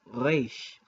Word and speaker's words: Resh: For instance, the letter Resh in modern Hebrew, Resh, is pronounced with the back of the throat like a French R, but sometimes it's rolled.